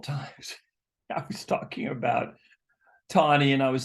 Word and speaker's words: Taney: of um Roger Tani now tawny's name is spelled uh t-a-n-e-y um it sounds like Tawny but it's it sounds